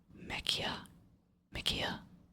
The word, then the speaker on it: Mekia: Okay, next set of questions is from, and I always say your name wrong, so I highly apologize. It's Mekia.